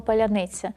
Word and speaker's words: паляниця: повномасштабного вторгнення на блокпостах просили повторити слово паляниця с герої слово поляниц поляниц Перемоги вас бу це слово яке можуть вимовити усі навіть російськомовні українці а от росіяни наприклад не можуть але ця робота значно